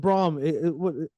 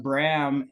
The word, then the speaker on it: Bram: up becoming a label oh that's great and Braum is that like a uh a Gera name uh it's actually pronounced Bram and uh I was named after Bram Stoker